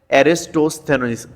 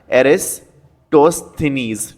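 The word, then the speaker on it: Eratosthenes: Next, father of geography, father of geography है आपकी एरिस्टोस्थेनीज, इसका थोड़ा सा प्रोनाउंसिएशन देखना, एरिस्टोस्थेनीज, ठीक है, एरोटोस्थेनीज।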